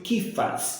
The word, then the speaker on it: Cefas: Quem é Cefas? Pedro. O nome dele em hebraico é Cefas, e em português Pedro. Em hebreus eles pronunciam Kifas, em hebraico, né? É Kifas. Em português nós traduzimos como Cefas, que é Pedro.